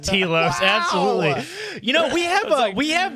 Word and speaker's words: Telos: those of you that have been listening to The Living Force since its inception, I just want to say it's pronounced Telos. Oh my God! It is pronounced Telos.